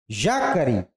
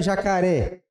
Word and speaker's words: jacaré: Vamos ver se é jacare. Jacare? Não. Jacare? Jacare vai jacaré. Jacaré. Sílaba tônica é aqui.